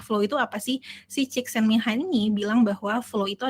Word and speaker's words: Csikszentmihalyi: Bahasanya tulisannya agak belibet ya. Tapi sebenarnya cara bacanya itu sederhana, yaitu adalah Csikszentmihalyi.